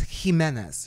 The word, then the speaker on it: Jimenez: How do you pronounce this name? It's Jimenez.